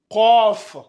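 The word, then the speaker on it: قاف: deuxème a comme ça c COF c'est ici au niveau de la gorge COF vous devez mettre mettez vos deux doigts au niveau de ici là votre pomme d'Adam là vous allez sentir vibrer quand vous allez le prononcer ça donne C vous ouvrez bien la bouche c c donc c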